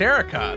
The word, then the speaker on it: Eureka: who's like what anime I think it's pronounced Erica that shows that it's